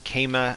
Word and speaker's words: Kemet: The actual word is Kema at this time. Yeah, at this time it would have been pronounced Kema because this is whatever 1st century BC. 59 BC or 49 BC, I can never remember. So the word would have been Kema.